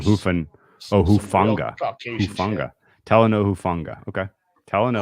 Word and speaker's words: Hufanga: It's Hufanga. Really? So he capitalized who. Like that would be the accent. Hufanga. What was I saying? I don't Hoofa? know, I was saying Hoofan. Oh, Hufanga.